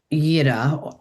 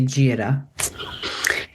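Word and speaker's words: Jera: Um, so there's a rune that's called Ya. It's spelled J E R A. So some people might say Jiraa.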